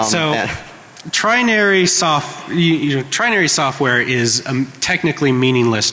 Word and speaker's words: Trinary: It's TRINARY, trinary, like 3 naries. All right, so trinary software is a technically